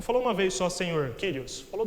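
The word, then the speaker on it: κύριος: Em grego ela é pronunciada como Kyrios.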